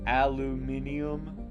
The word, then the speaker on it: aluminium: or is it okay it's definitely not aluminium right aluminium i do believe that would be the proper way to say it but i'm an american we say aluminum we're very stubborn in